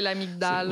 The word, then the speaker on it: amygdale: Puis ça s'écrit amygdale, mais c'est les fameux G muets que les scientifiques prononcent pas. Non, genre. fait que c'est l'amygdale.